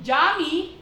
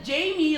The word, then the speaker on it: Jamy: nung ginawan ng reference ni ryad ung jammy sinabi niya na Jamie raw ang bigkas doon ano para mawalan